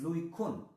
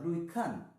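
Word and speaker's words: Louis Kuhne: So Louis Cunet, actually the pronunciation is Louis Kuhn or Louis Kahn, that way it's pronounced.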